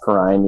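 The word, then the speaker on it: Perine: Perrine, yeah. I would consider picking him up. I do think there's a chance they'll split him with Chris Evans. Yeah. Maybe like a 60-40 split where Perrine gets more work, but Evans is involved.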